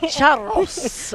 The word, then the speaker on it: Charros: Charros. I love the way you say that. You got to roll your R's.